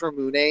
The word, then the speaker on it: Ramune: That's melon Ramune, and I'm pretty sure it's Ramune, and it's based off Ramune soda.